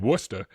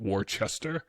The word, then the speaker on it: Worcester: And so he said, "Hey, Tom's living in in Worcester," which is how it's pronounced. Um, not Warchester.